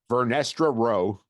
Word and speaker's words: Vernestra Rowe: Rebecca Henderson confirms that, oh God, you're going to have to help me with this pronunciation of the character's name here. Vernestra Rowe.